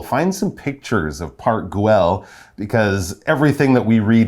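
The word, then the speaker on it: Güell: park guell wow um sometimes you see it the u has those two dots on the top like if they use in german so it's kind of an unusual pronunciation but something close to grill all right we're gonna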